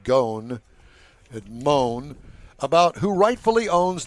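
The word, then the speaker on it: Ghosn: Nissan won the first round in its long brewing boat battle with former chairman Carlos I call him Gosen. I think it's pronounced goon admon about who rightfully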